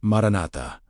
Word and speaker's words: maranatha: Pronounced maranatha, meaning come, Lord.